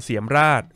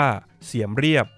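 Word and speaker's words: เสียมเรียบ: หิน นครวัด อยู่ ที่ เมือง เสียม ราช หรือ ชื่อ ท้อง ถิ่น ออก เสียง ว่า เสียม เรียบ ห่าง จาก กรุง พนมเปญ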